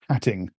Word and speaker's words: Hattingh: It's stuff from the Facebook feed of this South African conspiracy theorist, anti-Semitic right-winger called Paul Hatting, which is spelled Hattingh.